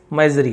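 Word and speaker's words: misery: wife seeing the family मेजरी है ना मिजरी यानी क्या होता है जिसे हम बोलते हैं दुख को मिजरी कहा जाता है मिजरी जैसा उच्चारण एस है तो स नहीं बोलेंगे ज है ना मिरी यानी कष्ट दुख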